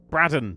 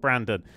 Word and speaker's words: Braden: Also, as a backer, I've realised you have to say my name, which is a France brand, not brand, Braden, not Brandon.